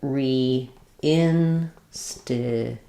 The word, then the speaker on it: reinstitute: Reinstitute. Um, because we have the st blend here, we do a true T here.